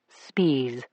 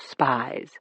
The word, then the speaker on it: Spies: That's how he pronounced it. Spes, not spies.